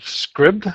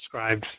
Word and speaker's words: Scribd: I think that's how you pronounce it. Is that right, Andrea? I would say scribed, but I am not any more confident in it than That you makes are. more sense, scribed.